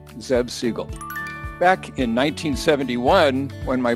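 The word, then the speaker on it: Zev Siegl: today by the way my name is pronounced zev siegel zeb siegel back in 1971 when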